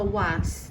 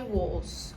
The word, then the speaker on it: was: oss ou Where Ok prestem atenção aqui nesta pronúncia porque se escreve com a mas não fala Whats não é assim que fala ok esse a tem um som de Oz I was Ok e o então